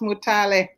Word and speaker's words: Mutale: And my name is pronounced Mutale. Mutale. Okay. We didn't even correct that in the beginning. Okay, you're not the only one. A lot of people pronounce it the way they see it.